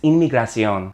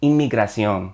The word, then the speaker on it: inmigración: Immigration in Spanish is inmigración. La inmigración. The double M there becomes an NM. So from one sound in English, immigration, to two sounds in Spanish, inmigración.